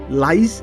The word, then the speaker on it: lice: about the word lice make sure you pronounce it carefully because it very almost synonym to the word rice almost able to read in the same sound lice and rice okay well